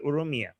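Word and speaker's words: Urmia: And I know so now I will never forget Slava Ukrainia rhymes with Urumia.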